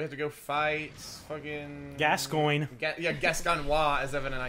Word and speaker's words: Gascoigne: It'll be people so in the I'm like, that'll well, Gascoigne. Gascoigne. Gascoigne. I mean, let's be legit. It's Gascoigne. Pronounce it like lasagna. Something.